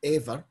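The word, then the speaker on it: Emer: MH and BH, I should point out, were pronounced almost identically, and they were getting confused back in Old Irish. So there's a historical person in one of the myths called Ever, which in some works is E-M-E-R, in some works is E-B-E-R.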